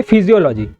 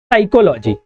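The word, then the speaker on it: psychology: फिजियोलॉजी। लेकिन ऐसा नहीं है। यहां पर क्या है? पी साइलेंट रहता है। तो इसे क्या पढ़ते हैं? साइकोलॉजी।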